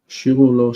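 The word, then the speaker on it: שִׁירוּ לוֹ: Shirulo, shir chadash. Shirulo. On the first syllable, the accent.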